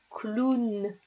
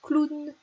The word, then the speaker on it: clown: maintenant je sais que le hall w se prononce ou c'est le mot clown donc celui-là il ya un petit peu bizarre